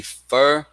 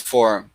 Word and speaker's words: four: to sound correspondence so if i would get maybe um let's see four i could think of four or f maybe fur but this word is pronounced for so the best way to teach it is automatizing it as four so on and so